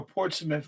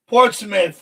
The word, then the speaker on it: Portsmouth: Portsmith. Oh, Portsmith. I forgot that's how you pronounce it.